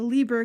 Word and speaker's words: Lieber: pronounced He was a German It's immigrant. I-E, then it's Lee, then it's Lieber.